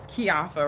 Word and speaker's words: Keioffa: you guys right now so my name is kiafa right and it's spelled k-e-i-o-f-f-a and and oh why would happen